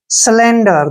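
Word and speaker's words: cylinder: साइबर ठीक है ना सिलेंडर देखिए सिलेंडर में भी सी के बाद वा आया है तो इसलिए सी को स पड़ा है देखिए यहां पे सालेक्स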